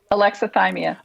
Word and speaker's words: alexithymia: But I wanted to talk a little bit more about, did you say it's alexithymia? Thymia? Say it. I'm terrible at pronouncing things. Alexithymia.